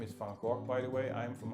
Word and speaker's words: Van Gogh: And so you will find, for example, in artists like Vincent van Gogh, his name is Van Gogh, by the way.